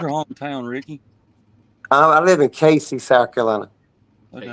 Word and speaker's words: Cayce: And it's spelled like Cayce or something like that.